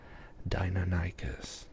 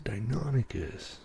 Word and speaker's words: Deinonychus: I got a lot of grief when I used one of the sources out there said it's pronounced Deinonychus. And they said, no, it's Deinonychus.